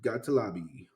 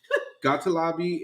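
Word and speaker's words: Gottlieb: not fight back in the words of gotal Lobby yep that's your name now you change it you start pronouncing it like that son of a gotal Lobby and it's G TT l i EB for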